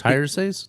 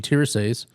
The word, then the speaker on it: Tiresias: He's actually a he's a because I can't even pronounce Tiresias.